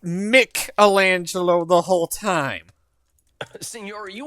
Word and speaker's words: Michelangelo: It is Michelangelo. Wait a minute. Are you saying we've all been saying that name wrong this whole time? Teenage Mutant Ninja Turtles got it wrong. It's it was pronounced Michelangelo the whole time.